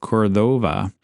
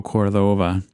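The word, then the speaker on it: Córdoba: Um, he also named the spot Puerto Cordova or it might be more properly pronounced Cordoba. Uh, they put the accent over the first O, which isn't normal in Spanish.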